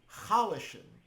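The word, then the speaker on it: חלשן: word that you know it's pronounced halishen even though it's written completely without vowels not even a hey or a stumar aleph that act like vowels yet there are two vowels this is a verb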